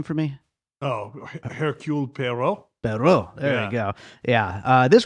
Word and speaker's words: Hercule Poirot: Oh, Hercule Poirot.